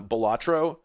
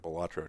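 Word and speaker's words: Balatro: back that um uh Bolatro, which I've heard pronounced many different ways, but I swear I've heard it Bolatro, too.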